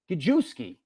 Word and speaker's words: Gajewski: Am I pronouncing it right? Gajewski? Polish? Gajewski.